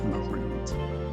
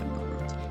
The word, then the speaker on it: Marud: Actually, his name was Marud. That's how you say it, Marud. M-A-R-U-D, Marud. Like, you're rude.